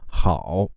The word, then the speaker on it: 好: For example, 好. Its tone is the 3rd tone, but we can practice like this, from the 1st tone to the 4th tone. 好, 好, 好, 好.